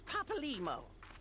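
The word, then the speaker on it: Papalymo: This is Papa Limo. We found Papa Limo. That's how you pronounce him.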